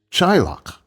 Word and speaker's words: Teaghlach: The word for family is Teallach, obviously spelled Teaghlach, Teallach.